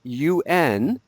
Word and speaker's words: un: So the word for a or an before a masculine noun is spelled UN.